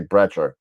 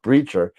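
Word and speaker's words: Brecher: guy I've taken lessons I still can't pronounce the name breacher I always want to say breter but breacher uh is coming down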